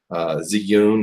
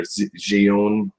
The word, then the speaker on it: Zhiyun: This is a Crane M Zhiyun or Zhiyun. It's hard to pronounce.